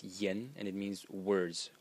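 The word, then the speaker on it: 言: element is this element over here which is pronounced yen and it means words like words of a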